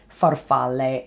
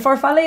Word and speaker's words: farfalle: to you i think and that is farfalle farfalle f-a-r-f-a-l farfalle means butterfly well technically farfalla means